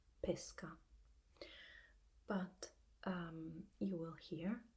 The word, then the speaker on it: pesca: And so I personally, in my area, we pronounce it with the closed E in both cases, pesca.